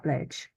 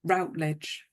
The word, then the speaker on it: Routledge: a radio play and it's narrated by Patricia Rage or R um I pronounce it rage how would you say it I could call her Routledge rout yeah Patricia Routledge so her actual name